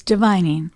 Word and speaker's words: Divining: Oh, it's divining. Thank you, divining. Think of the divine.